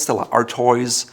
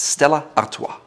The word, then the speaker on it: Stella Artois: It's not Stella Artois, it's Stella Artois.